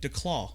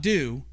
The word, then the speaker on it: Duclaw: Duclaw Brewing Company, the Sweet Duclaw. Baby Jesus. Just say it with me. Duclaw. Yeah, Duclaw. Not do. Duclaw. Duclaw. Take the U out. Put a flat A in it.